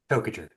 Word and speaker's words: Toajer: Toajer. Oh, just like it's spelled.